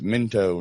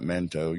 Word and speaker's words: Minto: It's spelled Minto, if that helps you. Oh, it's Minto, not Mento. You're saying Mento.